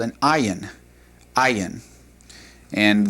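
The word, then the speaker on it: עין: Right below the Samic is what's called an ayin. Ayin. And the ayin is like the aleph in that it does not have a definite sound when we pronounce it.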